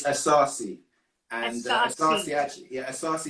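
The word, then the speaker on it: Asase: It's Asarci.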